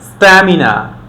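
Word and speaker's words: stamina: টি এর আগে যদি একটা এস থাকে তখন আমরা এটাকে ট উচ্চারণ করব। তো আমাদের বলতে হবে still, স্ট্যান্ড, স্ট্যাম্প, স্ট্যামিনা, strategy.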